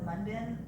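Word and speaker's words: Munbyn: I mean, I had the box, I just didn't have time to actually like put them in my, the mun bin, that's how you say it.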